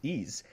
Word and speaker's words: Ys: So, after that, we have Ys 8, which I did not know how to pronounce this. Ys.